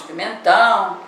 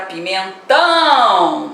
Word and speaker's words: pimentão: E a palavra pimentão, chame a palavra pimentão, você vai ver que ela tem o tio, né, na última sílaba, e ela é uma palavra o quê? Oxítona.